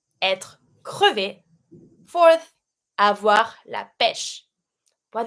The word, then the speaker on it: crevé: E without the accent, crevé.